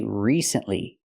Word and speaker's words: recently: a video first recently we don't say it like that we say recently we have to use a long e sound like green beans re recently not recently